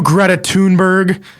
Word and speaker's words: Greta Thunberg: Talking to you, Greta Thunberg. That's how you pronounce it, technically.